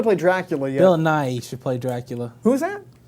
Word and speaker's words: Nighy: How do you pronounce Bill Nighy's name? Bill Nighy, Not Bill Nye, the science guy. Bill Nighy, the British guy.